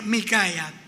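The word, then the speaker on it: מִיכָיָה: Entonces, ese nombre, una pronunciación aproximada sería Micaia. Así como es difícil pronunciar en español esos sonidos que no los poseemos, pero en hebreo sí está. Entonces, Micaia es el nombre, y en español suena como a Miqueas, y esa Cop la traducen en una Q.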